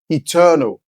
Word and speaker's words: eternal: Most of us know to pronounce this word as eternal, right? With the stress on the second syllable.